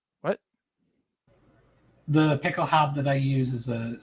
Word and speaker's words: Pickelhaube: Because by the 1860s, the Pickelhaube was a Pickelhaube would actually be how you pronounce it.